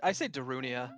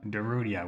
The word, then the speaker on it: Darunia: How do you pronounce the name? I say Darunia. Darunia, well done.